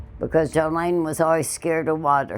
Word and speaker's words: Jolaine: Another mystery in this case is she pronounced her name Jolene, not Jolene, which is what was written on the sole of her foot.